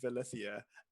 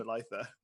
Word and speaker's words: Belitha: I always say Velithia. I know okay. it's Belitha, but it's too late now.